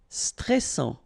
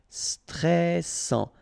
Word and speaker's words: stressant: Stressant. Final T not pronounced. A-N together. En. And then double S. Sans. And it will open the pronunciation of your E. So E. Stressant.